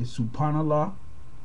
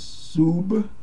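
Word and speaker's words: سبحان الله: You'll hear a lot of people say Subhanallah, but there's no P sound in the Arabic language. Okay, so it's not Subhanallah. It is Subhanallah, and it's very important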